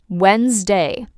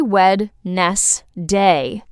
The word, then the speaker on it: Wednesday: Wednesday. You do not say Wed-nes-day. You completely erase the first d and the e and say Wednesday.